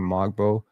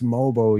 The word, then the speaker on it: Mogbo: Like, if I'm wrong about this shit, I've been complaining about people calling Mogbo for so long now. I've been saying like, it's Mobo, yo.